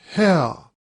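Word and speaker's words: Haigha: happy his name is how he pronounced it so as to rhyme with mayor i love my love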